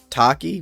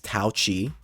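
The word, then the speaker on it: Taoqi: the big booba girl Taki which I thought is how you pronounce it's touchi and thought chiia was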